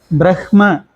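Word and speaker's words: ब्रह्म: அடுத்து இன்னொரு முக்கியமான ஒரு வார்த்தை, இதை நம்ம வந்து யூஸ்வலாக எப்படி சொல்லிட்டு இருக்கோம்னா பிரம்மம் அப்படின்னு சொல்லிட்டு இருக்கோம். பிரஹ்ம, இஹ், பிரஹ்ம. பட் நம்ம சொல்லும்போது, மற்ற இடங்கள்ல சொல்லும்போது ஓகே பிரம்மம் சொல்லிக்கலாம், நமக்குள்ளேயே பேசிக்கும் போது கூட பிரம்மம்னு சொல்லிக்கலாம். உச்சரிக்கும் போது ஸ்லோக வடிவத்தில், மந்திர வடிவத்தில் உச்சரிக்கும் போது பிரஹ்ம அப்படிதான் சொல்லணும்.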